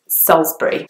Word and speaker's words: Salisbury: or solace burry and that I in the middle is not pronounced at all and the word is just kind of very short when you hear it but it's slightly longer when you see it spelt and so it's Salisbury